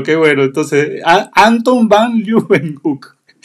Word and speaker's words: Leeuwenhoek: Entonces, Anton van Leeuwenhoek. Sí, sí, Leeuwenhoek. Yo mi inglés tampoco es muy bueno, pero se pronuncia más o menos así.